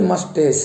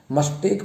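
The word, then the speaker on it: moustache: देख पा रहे हैं, ये मस्टेस है, मस्टेक मत बोलना, मस्टेक ऐसे नहीं, इसका सही उच्चारण है मस्टेस। मस्टेस माने मूंछ, मस्टेस मूंछ। ये जो है इसको जनरली रूप से बच्चे लोग ज़्यादा मस्टेज बोलते हैं। ये मस्टेज नहीं, मस्टेस।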